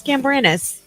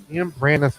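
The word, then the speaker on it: Gambrinus: Gambranus? Gambranus with an I? Yes. Why would the I be pronounced like an A?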